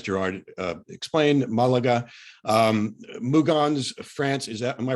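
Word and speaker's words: Mougins: in as as gerard uh explained malaga um mugan's france is that am i pronouncing that right yeah okay is where he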